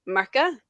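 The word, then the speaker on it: Murchadh: there one of the main characters is called Mera which is M Ur c h a d so a lot of people mispronounce it as merad merad nice merad yeah it's like very American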